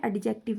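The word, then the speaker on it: adjective: जिस तरह we have noun, pronoun, ठीक है जी, एडजेक्टिव, जिसको एडजेक्टिव पढ़ते हैं, एडजेक्टिव नहीं पढ़ते, इसका डी साइलेंट होता है, इसको पढ़ते हैं एडजेक्टिव, ओके।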